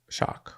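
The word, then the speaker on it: Schock: by David Chu so how would you pronounce s c h o c k s c shock shock okay so when Robert shock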